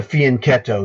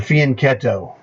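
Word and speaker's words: fianchetto: see this formation here this is the fien ketto that's how you pronounce the Italian word all right the fian ketto the bishop lives usually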